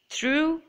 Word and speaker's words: through: Through, GH is silent.